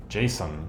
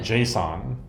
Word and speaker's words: JSON: Jason. Oh, JSON. JSON. The lingua franca, the what most web things speak nowadays is JSON or JSON. I think the appropriate pronunciation is Jason or JSON or Jason, right?